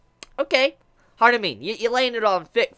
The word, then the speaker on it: Harumin: all that, and eventually, Harumin, that's how you say it, Harumin, she was sitting there, like, on the computer, and she looks around like, what are you reading?